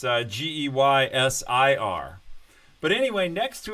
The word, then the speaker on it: Geysir: The word geyser comes from a place in Iceland where the geyser is actually named Geyser, only it's spelled with an I. So it's Geysir.